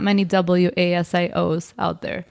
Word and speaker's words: Wasio: So it's Wasio, so WASIO, and then for our headshots and portraits, it's Wasio Faces, which is WASIO_faces.